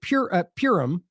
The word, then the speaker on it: Purim: It says occupying Israeli soldiers celebrated Purim, is how you say that, by raping Palestinian women in Al-Shifa Hospital, which, by the way, has been roundly reported.